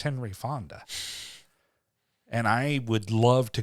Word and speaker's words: Henry Fonda: Is it Peter Fonda? I'm pretty sure it's Peter. No, it's Henry. Peter. Yeah, Henry Fonda.